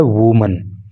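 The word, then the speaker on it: woman: वो एकवचन होता है और उसका जो प्रोनंसिएशन होता है जो उसका उच्चारण होता है वह होता है वुमन तो इस चीज को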